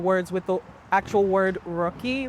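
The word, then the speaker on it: Ruky: And and just for our audience, what is uh and I apologize, is it pronounced Rookie or Rookie? Rookie.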